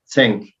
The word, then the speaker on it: Zenk: Zenk.